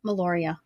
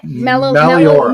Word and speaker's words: Meliora: How did you come up with the name Meloria? Okay. Meliora. Meliora. Sorry.